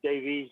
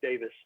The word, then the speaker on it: Davies: And I pronounce it Davies now. Before I came to America, it was always Davis. But they always spell it IS when I just say Davis.